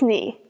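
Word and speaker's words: nu: By the way, almost all English speakers mispronounce new. In modern Greek, the letters that we pronounce as mu and new are actually pronounced as mi and knee. So, no, no, no, it's not that. It's ni.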